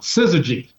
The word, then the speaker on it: syzygy: How do you pronounce that? That is this. Well, the shirt, this is called syzygy.